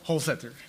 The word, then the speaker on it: Holsether: I could imagine it with a hard T or a TH sound. Help us. Holsether.